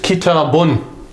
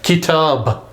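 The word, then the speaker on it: كتاب: So it will be pronounced kitabun.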